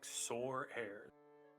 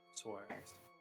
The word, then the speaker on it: Soares: my name is Soares. Well, it's a pleasure to meet you. Where's... I butchered that, I'm sorry. It's like sore hairs. Just think of it like a dragon's sword's thief, but Soares.